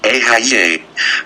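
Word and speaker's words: אהיה: Vibrate the Hebrew God name, Eheih, pronounced Ehyeh.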